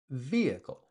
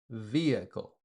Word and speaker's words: vehicle: Vehicle. Vehicle. If you say it fast, it's three sounds, three syllables. Vehicle.